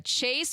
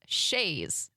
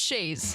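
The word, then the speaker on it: chaise: I always say said it was either a Chase or a chice or a whatever turns out it's pronounced Shas you know like those those uh what is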